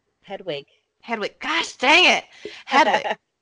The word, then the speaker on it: Hedwig: that series, and then I only have Harry and I can't pronounce his owl's name. Hegwig. Hedwig.